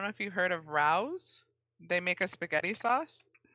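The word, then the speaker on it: Rao's: I don't know if you've heard of Rouse. They make a spaghetti sauce. No, I haven't. So they make pizza now, like frozen pizza. I believe it's pronounced Rayo's.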